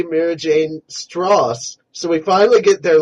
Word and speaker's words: Strauss: man mira jane and lisa strauss or straw it's strauss because my friend has a name that's spelled exactly like that it's strauss well we don't know if it is so right now i'm going with strauss and stross so there versus blue